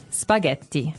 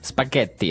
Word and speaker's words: spaghetti: and what about spaghetti spaghetti spaghetti oh you pronounce the Double T as well that's right okay so